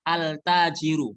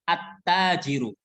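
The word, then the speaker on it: التاجر: huruf Syamsiah pedagang jadi nggak boleh bacanya Al tajiru nggak boleh bacanya altajiru nggak boleh Alif lamnya terdengar saat Dibaca tapi harus jangan terdengar langsung dimasukkan bukan cara bacanya bukan altajiru tapi attajiru Kemudian yang kedua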